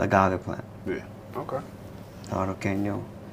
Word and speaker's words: Arroqueño: This one is, how do you pronounce that? Arroqueño? Arroqueño. Arroqueño.